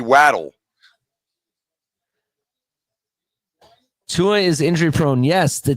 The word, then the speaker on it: Waddle: English a double consonant makes the vowel short so it should be waddle anyway I don't know why everybody says waddle to begin with only because it's a proper name and a man can say his name however he wants to so grammar doesn't apply but technically a double consonant should make that a short it should be wadle Tua is injury-prone yes